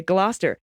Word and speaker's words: Gloucester: a mnemonic nursery rhyme used to teach the generations of English school children how to pronounce glister Dr Foster went to Gloucester okay Gloster in a shower of